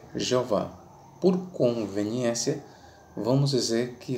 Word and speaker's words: Jeová: conveniência entenda por nós vamos adotar aqui a pronúncia para o tetragrama a pronúncia será Jeová ou Jé Ok se você preferir Jeová ou yé tudo bem fique à vontade tá bom irmão então